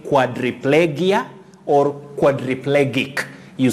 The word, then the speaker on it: quadriplegia: you pronounce this word quadriplegia quadriplegia how do you pronounce this willis now in the first place letter a takes the sound o chord chord then you say quadriplegia quadriplegia a tricky one